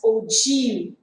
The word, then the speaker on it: ogive: In the 14th and 15th century, in the architecture field, actually they are using this ogi. Okay, ogi, but we are pronouncing this as ogive.